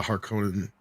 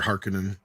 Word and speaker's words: Harkonnen: I don't agree with a lot of what they did to the Harkonnen, or Harkonnen, however you want to pronounce it.